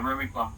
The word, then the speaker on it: Rubiplas: Yeah, Rubiplas.